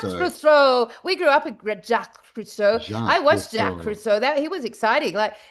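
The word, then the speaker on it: Jacques Cousteau: Jack Kustoau. That's it. Jack Fris. We grew up with Jack Cruso.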